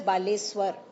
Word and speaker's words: Baleshwar: For example, Balasore will be changed to Baleshwar, pronounced as Baleswar.